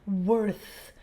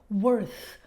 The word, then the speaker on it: worth: Pay attention to my pronunciation here, worth. At the end, you have the TH. And so your pronunciation must always be like this. Look, worth.